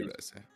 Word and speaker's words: Reze: Is it Rizy or Reze? Phonetically in Japanese it would be Reze.